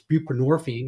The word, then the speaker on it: buprenorphine: It's buprenorphine, which rhymes with morphine for a reason.